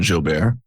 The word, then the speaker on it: Jilbert: As Andrew correctly said, my name is Jilbert. If you ever pronounce it Jilbert, don't worry about that.